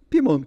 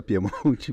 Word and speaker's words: Piemonte: da Piemont da Piemont Piemont ou Piemonte como que é a pronúncia acho que pros amigos pimont tá Fantástico é nobre elegante bonito tal mas assim a gente usa Piemonte mesmo Piemonte diretamente eh simples direto